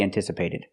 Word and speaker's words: anticipated: that sound an anticipated we're not going to use a short a like black cat and apple the a is different it's a different short sound because it's before an N when you have the